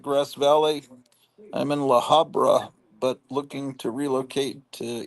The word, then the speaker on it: La Habra: I'm in La Habra, but looking to relocate to either North K or out of state. Did I pronounce that right? La Habra. Yeah, you did.